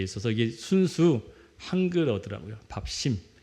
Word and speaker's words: 밥심: 밥심 발음할 땐 심자로가 이렇게 쌍시옷이 들어가 있더라고요. 밥심 영적 밥심 아 2주 전에 땅에 대한 이야기를 했었죠.